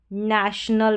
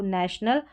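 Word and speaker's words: national: तो यहां पर टी को ट या च नहीं पढ़ा जाएगा। नेशनल पढ़ा जाएगा इसको नेशनल। और जैसे मैंने बोला इस तरीके से ओ जब बीच में आता है बड़ी स्पेलिंग्स में जैसे नेशनल में आया है तो इसको अ पढ़ा जाएगा नेशनल यह है पी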